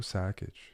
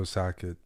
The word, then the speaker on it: Sakic: Yeah, in Canada we say Joe Sakic. Like, you say Sakic, like Šarić, like in Serbia, Croatia, but we don't usually pronounce it properly.